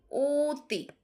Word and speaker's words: অতি: দেখো অতি অতি। কিন্তু এটা হয়ে যাচ্ছে কি? ওতি মানে উ এর মত হয়ে যাচ্ছে। অতি অনু পক্ষ পক্ষ অদ্য মন অদ্য মন তাহলে এইযে পাশের ধ্বনির প্রভাবে অ বর্ণের উচ্চারণ অ এর মত না হয়ে ও এর মত হয়ে যাচ্ছে।